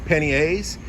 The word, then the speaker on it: panniers: So I ordered some panniers, I'll say it like the French, panniers.